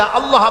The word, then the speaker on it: আল্লাহ: আল্লাহ পাকের উচ্চারণটা হচ্ছে, আল্লাহ পাকের নাম হচ্ছে আল্লাহ। মুখটা একটু গোল হয়ে যাবে, বলেন আল্লাহ আল্লাহ আল্লাহ।